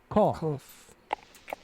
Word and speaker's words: cough: Remember the gh sounds like an F in the word cough.